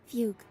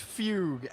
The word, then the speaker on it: fugue: loss of who she once was wait really fuge it is pronounced Fugue ah it's ridiculous Fugue sounds wrong but it's